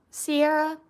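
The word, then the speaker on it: Siarah: Sierra as in like Sarah with an I in it. So, it's pronounced like Sierra, but it's spelled S I A R A H.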